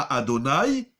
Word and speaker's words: Adonai: On ne dit pas Yud Ke Vav Ke avec les voyelles, on va le lire Adnut, Adoni, Baruch Ata Adonai, Lamedeni Chukecha, Adnut.